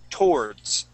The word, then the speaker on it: towards: word is towards so instead of pronouncing that w we would just say toe SS towards TOS okay one more